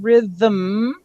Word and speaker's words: rhythm: And when we have rhythm, it actually, it feels in your mouth like two syllables. Rhythm, hum it, you actually hum two syllables. It is spelled without an extra vowel.